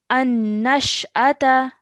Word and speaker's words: النشأة: We're going to say An-nash'ata. النشأة An-nash'ata. النشأة Okay. Remember, don't at the end, don't say sha, the. Its alif is separate. Okay. An-nash'ata. النشأة An-nash'ata. An-nashada.